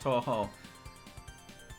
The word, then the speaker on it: Touhou: Touhou, it's pronounced Touhou.